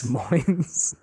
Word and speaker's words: Des Moines: Maybe I believe it's pronounced Des Moines. Yes. Des Moines.